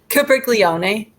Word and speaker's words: Capriglione: Capriglione. Okay. Okay. So it's Republican incumbent Giovanni Capriglione.